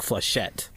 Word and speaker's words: flechette: a CH e TT oh it's French like flesh yet yes it looks like flechette flechette e sounds very wrong mr. Sheth but flechette e sounds like machete but